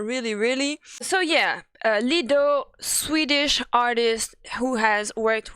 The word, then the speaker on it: Lido: I pronounce his name like this because it sounds like it's written as the same way as the cabaret that we have in Paris that is called the Lido, where you have the crazy horse girls and all that who be dancing like naked with their titties out and stuff. Yeah, so that's why I say it like this, because I think it's sexy.